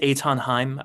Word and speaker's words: Eithan Haim: yeah, my name is Etonheim. Um, it's spelled, my first name is spelled Ethan. It's a Hebrew name, but it's uh spelled in German phonetics.